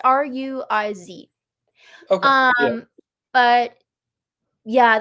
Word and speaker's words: Ruiz: Miguel, and then I don't know how to say it, Ruiz? It's Ruiz.